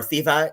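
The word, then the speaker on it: Θήβα: where we get cities like Thebes, or Thiva in the modern pronunciation, and Thespia, which is where Eros.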